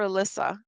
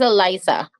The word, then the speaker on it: Eliza: Is it Eliza or Alyssa? That is Eliza. Eliza. Okay. I apologize. I've been mispronouncing your name.